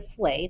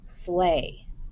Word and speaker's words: sleigh: to make one sound this h is silent the g is silent the i asylum and this e says a tricky okay slay and pray lions hunted